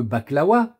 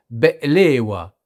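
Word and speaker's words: بقلاوة: vous les adorez tous, les fameux baklawa, comme on dit à la française, mais qui se prononcent en réalité be'lewa, Il y a comme une coupure qui est gutturale aussi, et qui se fait au niveau de la gorge.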